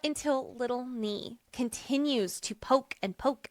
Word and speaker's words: Nee: I'm going to say mispronounce Nee as Nay.